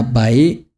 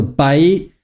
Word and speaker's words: baik: So I learned that when I was in Indonesia. So baik, the last K is not pronounced.